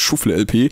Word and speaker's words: ShuffleLP: Nein, das spricht man nicht Englisch aus, das heißt Schuffle-LP.